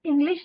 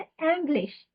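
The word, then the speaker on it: English: तो यहाँ पे इंग्लिश की प्रोनाउंसिएशन प्लीज ध्यान से बोलना, गलत याद नहीं करनी हमें, इंग्लिश नहीं बोलते एंग्लिश।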